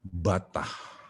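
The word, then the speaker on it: בטח: alkitab itu ditulis dalam bahasa Ibrani begitu tulisannya bacanya batah hai Hai percaya dalam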